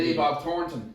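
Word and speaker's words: Thornton: Thor actually really cool pronounce it properly Billy Bob thoron yeah Tor like Tor and chocolates H the night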